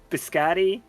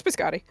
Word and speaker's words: biscotti: some like amazing wine eating some bird seed biscotti biscot I don't know how to pronounce that if I'm pronouncing it wrong I'm sorry no it's biscotti so yeah um anything else that we need